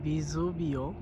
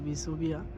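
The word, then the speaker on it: Vesuvio: Italian বলা হয় ভিসুভিও, আর বাংলাতে ভিসুভিয়া আমরা সহজে কই আর কি।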